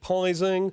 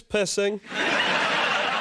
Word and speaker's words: Pissing: So many people over the years have pronounced it Pising or Pizzing. It's not, it's Pissing. Said it once, and I'll say it again. Pissing is my name, and I'm proud to be a Pissing.